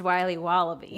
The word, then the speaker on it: Wiley Wallaby: It's pronounced Wiley Wallaby. Well, it's very good. It's called Wiley Wallaby, and it's delicious.